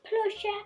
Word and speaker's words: proszę: This is plusher, and inside plusher there's L. So the word means please, please. If you see in Polish word, S and Z together, you pronounce it as sh.